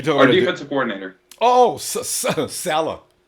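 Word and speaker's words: Saleh: about defensive coordinator oh Salah Salah Salah just like Sal he'll get him straightened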